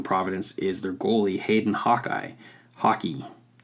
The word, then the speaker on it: Hawkey: is their goalie, Hayden Hockey. I want to call him hockey, but that just sounds like the game hockey. It's spelled Hawkey. So, Hawkeye? Is he missing an E on the end?